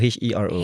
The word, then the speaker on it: Hiro: Hero, like Enrique Iglesias. I can be your hero.